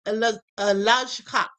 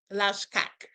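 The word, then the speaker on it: Lajčák: Lajkak. That's probably how you say it because it's Slovak.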